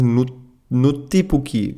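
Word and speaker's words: Nuttipukki: There's a really interesting word that they are going to explain further, which is Nuttipuki. It's spelled as NwttiPukki.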